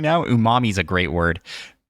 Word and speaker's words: Umami: Umami. Umami. Like it's the flavor in Japanese cuisine.